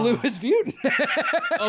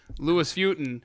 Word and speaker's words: Louis Vuitton: people calling and going i think i've been pronouncing it wrong because the headquarter says the louis vuitton okay so if someone if you're listening right